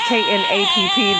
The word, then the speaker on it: Knapp: Again, you are listening to Knapp. Knapp. It's K-N-A-P-P. The K is silent.